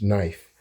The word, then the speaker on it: knife: So we don't pronounce the k um when we pronounce knife.